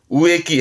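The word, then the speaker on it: 植木: 나무를 심는 겁니다만은 일본 친구들 발음을 우에끼 해서 나무를 심는다라는 의미에서 우에루의 우에 발음 가지고 와서 우에끼. 발음 조심할 것이 자주 보입니다.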